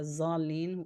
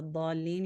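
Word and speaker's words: الضالين: Like if you say wala zalin instead of wala dalin, you do change the meaning of the word.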